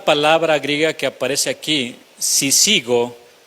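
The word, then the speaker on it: σύζυγος: griega que aparece aquí, sisigo, así como si sigo, pero con acento en la primera I.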